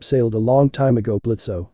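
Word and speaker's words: Blitzø: a long time ago blitzo said the suubi looking through her Shades at Blitz first it's Blitz the O is silent and second I haven't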